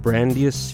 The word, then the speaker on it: Brandeis: So I'm looking at this list from, I guess it's pronounced Brandeis University, which in the city of Waltham and the state of Massachusetts, right?